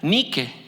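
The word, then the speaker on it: νίκη: En la palabra griega que se pronuncia Nike, y que nosotros decimos Nike, la marca, que en realidad es Nike en inglés.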